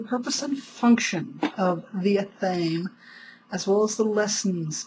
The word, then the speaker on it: athame: And I do not use the pronunciation athame. Why? Because I find it too feminine for an otherwise masculine tool. I use the pronunciation of athame because it has a weight and lends a more appropriate masculine feel to the tool.